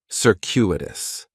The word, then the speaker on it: circuitous: In the first syllable, that C is going to have more of an S sound, circuitous. The stress is going to be on that second syllable, and that CU is kind of like you're saying the letter Q, circuitous, circuitous.